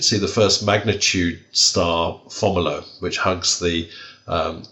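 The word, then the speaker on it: Fomalhaut: the first magnitude star formula which hugs the um is that how you pronounce it fomolo i pronounce it yes yeah okay well either way it doesn't matter except mine's right which hugs the southern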